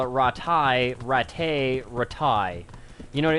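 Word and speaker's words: Rattay: Or, like, they put too much emphasis on the first A. Ratai. Ratai. It's almost like a R-A-H.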